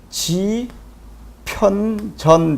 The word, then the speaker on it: 집현전: 다음에 jeon 이렇게 되겠죠 그러면 여기서는 지편 전 됐죠 여기서 집현전에서 여기 h가 들어갔거든요 이런 것들은 설명을 하지